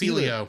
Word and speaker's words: Elio: another film uh I'm if I pronounce this for El or ELO Elio Elio it's Elio yeah Elio that's coming out on